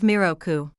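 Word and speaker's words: 弥勒: In Japanese, 3 is mi and 6 is roku. Therefore, when you combine 3 and 6, it becomes the pronunciation of miroku.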